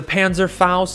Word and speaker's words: Panzerfaust: we are running the riot shield with the panzer faust that's how you uh pronounce it i've always wanted to run this